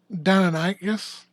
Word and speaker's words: Deinonychus: Yeah, that's Deinonychus or Deinonychus, depending on how you say it.